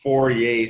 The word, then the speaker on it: Fourier: another French mathematician so his name doesn't necessarily pronounce the way it is spelled so he was a